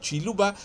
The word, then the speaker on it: Kiluba: constituée des autochtones Baluba, locuteurs du Kiluba, prononcés Chiluba, sans que ce soit ce Chiluba d'Mbujumai.